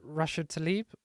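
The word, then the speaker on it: Rashida Tlaib: Is it Rashid Tlaib? Yes. Did I get the name wrong?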